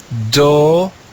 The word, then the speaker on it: domus: Domus. Domus. If we put those syllables together, we read the word domus.